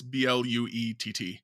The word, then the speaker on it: Blewett: The last few, like, not spelled the same way as Scott Blewett. It's Bluett, and he's got Final Fantasy and Kingdom Hearts and a few other series on there.